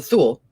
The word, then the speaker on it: Thule: the Thule, that's how you say it, the Thule, and Vril, and the Black Sun.